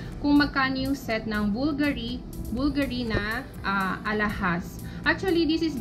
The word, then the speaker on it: BVLGARI: So ito pala ang tamang pronunciation. BVLGARI, okay?